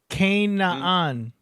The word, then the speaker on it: Canaan: So Canaan, is that how it's pronounced? Yeah, like Canada.